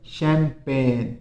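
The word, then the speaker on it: champagne: क्या है, इसमें भी एस साइलेंट रहता है, प्रोनाउंसिएशन बोलने में ध्यान रखना, रिजाइन। फिर देखिए शैंपेन, शैंपेन यानी एक तरह की मदिरा, शराब, इसमें भी क्या साइलेंट रहता है, एच साइलेंट रहता है।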